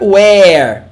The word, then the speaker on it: where: Imagina uma pronúncia assim com acento circunflexo. Ó. Were. Repeat. Were. E a outra, where. Tipo um acento agudo. Where.